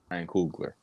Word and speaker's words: Coogler: Ryan Coogler.